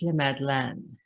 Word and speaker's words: La Madeleine: tears to us i love la madeleine it's pronounced le madeleine le man i guess i'm working on my